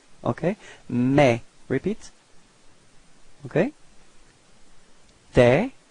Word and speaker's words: tes: Tes. Okay, so same sound, this open E. Okay, don't be afraid to open your mouth. Tes.